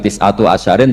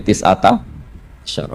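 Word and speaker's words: تسعة عشر: tisata asyaro utawi 19 tetap bacanya bukan tisatu asyarin tapi tisata asar jadi kita tahu secara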